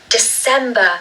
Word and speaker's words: December: Okay, second syllable stressed again. December. And of course, it's not a C sound, it's an S. So even though it looks like a C, we're going to say an S.